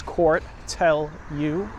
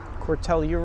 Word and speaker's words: Cortelyou: The way most of us pronounce it is like 3 words: Cortelyou, Cortelyou Road.